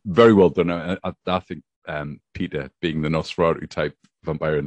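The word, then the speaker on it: Petyr: Well, it is spelled P-E-T-Y-R. So it's not just Peter. Peter. It sounds like Peter.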